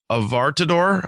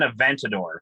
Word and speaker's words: Aventador: the word right uh avartador i think uh it's an aventador aventador okay so yeah that's an n not an r the way i wrote it aventador um it was like a 2019 aventador with 780 horsepower pretty